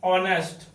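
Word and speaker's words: honest: तो अब यहां पर आप लोग थोड़ा ध्यान देंगे, ऑनेस्ट लिखा हुआ है, एच से लिखा हुआ है, लेकिन उससे हमको मतलब नहीं है। हमको मतलब इसके साउंड से, साउंड के उच्चारण में क्या आता है।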